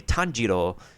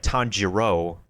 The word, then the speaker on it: Tanjiro: So, for Kimetsu no Yaiba, instead of having the English voice cast just a Tanjiro, in which you have the R in that sound like an L, they want them to say, like, Tanjiro, in which they pronounce the R with a hard R.